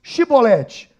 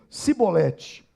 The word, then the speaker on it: Shibolete: E dizendo ele, não, então lhe diziam, dize-nos Shibolete, porém eles diziam Sibolete, porque o não podiam pronunciar assim bem.